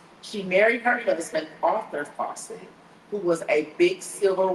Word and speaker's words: Fauset: Shout out to Crystal Bird Fawcett. Her last name is spelled Fauset.